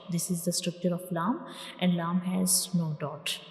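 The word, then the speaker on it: لام: So when we pronounce lam, the tip of the tongue will touch the gums behind the upper front teeth.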